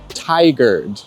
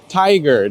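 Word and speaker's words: Tigard: Portland called Ty say it with me everyone tiger there's a lot of other common mispronunciations of that word but you got to learn it here and now tiger practice tiger all right so brunch is definitely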